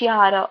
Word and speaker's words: Jahre: So here J will be not pronounced as J but Y.